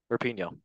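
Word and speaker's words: Rapinoe: one or two words for a Megan rap rapino that's how you say it lovely controversial Legend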